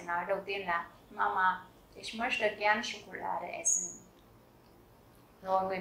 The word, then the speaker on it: möchte: Các bạn chú ý cách đọc của động từ này nhé, bởi vì các bạn có nhìn thấy chữ CH không? Nhiều bạn đọc là möchten hoặc là möchten thì đều là chưa đúng. Các bạn nhớ là chữ CH ở đây đứng sau âm ôm laut thì mình sẽ đọc là âm như là chữ ish.